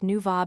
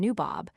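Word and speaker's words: nawab: The B and V in Persian are constantly used for each other. One instance will suffice. The plural of naib, a viceroy, is equally pronounced nuvab and nubob, or, according to our pronunciation, nabob.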